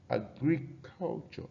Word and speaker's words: agriculture: Agriculture. All right. You see, the stress is on the fourth syllable.